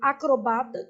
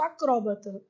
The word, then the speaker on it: acrobata: Assim é correto tanto acrobata quanto acróbata. Trata-se de formas variantes.